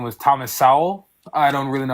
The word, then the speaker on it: Sowell: Yeah, like, and it is Sowell. You are correct in the pronunciation of his name.